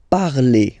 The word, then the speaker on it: parle: So even if you've got this ENT, well, don't hate me, but you won't pronounce these letters. Okay, you have to write them for the plural form, but you don't pronounce them. So you get il parle, elle parle. So the good news is